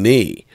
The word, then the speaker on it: knee: Or understanding that the K is silent in knee.